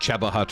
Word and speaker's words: Cheba Hut: Even though they spell it wrong and it's pronounced Cheba Hut or something.